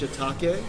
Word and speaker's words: shiitake: us they're so awesome yes Holly people it's pronounced shiitake Japanese 101 don't be embarrassed y'all got the